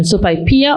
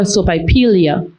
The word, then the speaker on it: sopaipilla: Okay, contestant, you were given the word sopaipilla, which is the pronunciation sopaipilla or sopaipilia.